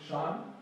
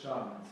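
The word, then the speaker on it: 山: And because it's a turtle, we pronounce it shan. So Awesome, well done. And the link word was shanty town for like the district, right?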